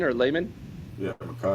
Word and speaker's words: Lemon: Uh at the Z you got Jacobe Lane and at the the Y McKay is it Lemon or Layman? Yeah. Mai Lemon.